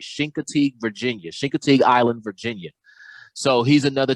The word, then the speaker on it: Chincoteague: catter and we did some trapping in uh shinka tea i want to make sure i say it right shin contigue virginia chincoteague island virginia so he's another tnr advocate another